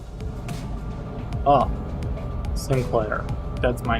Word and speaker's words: Sinclair: Oh, Sinclair. That's my name. Or Shinclair. I just uh Korean pronunciation whatever.